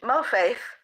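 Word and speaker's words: מוֹפֵת: You pronounce it in English, mo faith.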